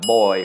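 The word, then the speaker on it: บ่อย: next slide we have boy which means often and that is low tone because of the my egg mark then hoy which means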